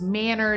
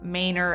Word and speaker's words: Manor: One would think that it should be referred to as Manor due to the spelling, but locals call this Manor.